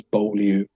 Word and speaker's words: Beaulieu: the well-known French brand, I think if you pronounce it correctly in French, is Beaulieu, as we say in England.